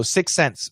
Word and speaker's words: sixth sense: but we do so sixth sense sixth sense uh when we say it really really fast the th disappears and this is something